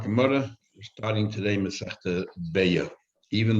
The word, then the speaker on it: Beitza: Even though it's written Beitza, you're supposed to pronounce it Beya. As there's brought down in Mogen Avraham and Shulchan Aruch Siman Kuftan Vav, Beitza is a word that has allusions to other meanings that are not so nice, not so eloquent. So therefore you're supposed to pronounce it Beya, even though there's a tzaddik there.